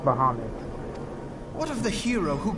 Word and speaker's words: Bahamut: hold dear Bahamut also it's not bahmut it's it's so it's not pronounced bahmut it's pronounced Bahamut what of the hero